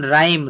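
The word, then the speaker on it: rhyme: আর এইচ থাকলে আর এর উচ্চারণ করে থাকে, এই এইচ এর উচ্চারণটা কিন্তু হয় না। যেমন রাইম, রাইম মানে হচ্ছে ছন্দ, রাইম মানে কি হবে?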